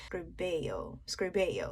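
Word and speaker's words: Lo Scarabeo: um now i i don't know english-wise a lot of people pronounce it lo um screbo english way but um the italian way to pronounce it i'm gonna try my best rubello scrubeyo yes lil script bail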